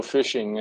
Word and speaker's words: phishing: So phishing, and what is it all about? What does it mean to your business? So phishing is pronounced like the fun pastime of fishing, but it's got a pretty sinister twist to it.